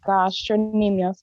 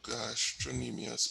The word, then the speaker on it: gastrocnemius: No, it has a C, yeah. I'll have to check to see if that C is silent. You might be onto something there, I just never thought about that.